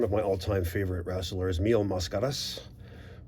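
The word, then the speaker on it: Mil Máscaras: my all-time favorite wrestlers mio mascaras or incorrectly pronounced by the americans mill mascaras either way uh we're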